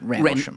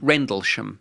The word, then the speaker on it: Rendlesham: By Rendlesham How do you pronounce it? Rendlesham. Rendlesham.